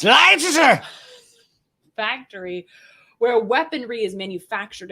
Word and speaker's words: Leicester: So this is so this site in Leicester is pronounced Leicester factory where weaponry is manufactured and then exported directly to Israel.